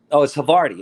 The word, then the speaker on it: Havarti: How do you say this? Havarti? No. It's Havarti.